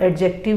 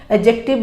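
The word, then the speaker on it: adjective: यहाँ पर एडजेक्टिव के दो प्रोनाउंसिएशन होते हैं, आप एडजेक्टिव भी बोल सकते हैं और एडजेक्टिव भी डी साइलेंट करके भी उसको बोल सकते हैं, बोथ आर करेक्ट.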